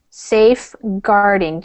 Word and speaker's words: safeguarding: And this word, safeguarding. So just make sure you have that hard G sound in there.